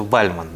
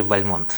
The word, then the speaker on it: Бальмонт: Эдгара на русский язык с ударением его фамилии Ну говорят что бальман да Или Бальмонт В общем это Константин Бальмонт поклонник эгар Ну стихотворение